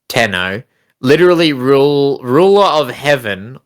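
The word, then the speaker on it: 天皇: Havey monarchy science the emperor of Japan tenno pronounced tenno literally rule ruler of heaven or Heavenly so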